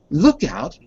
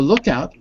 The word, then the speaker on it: lookout: Notice how the stress changes. Look out for pickpockets. Stress is on out. But if I say, what's the second one? Keep a lookout. The stress is on look in that case.